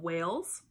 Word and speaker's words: Wales: For instance, human beings from Wales, that's a country, it's spelled W-A-L-E-S.